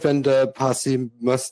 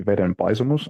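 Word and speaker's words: Vedenpaisumus: The pronunciation would be Veden Paisumus, and it is the direct translation of the Old Testament story of the flood in Finnish.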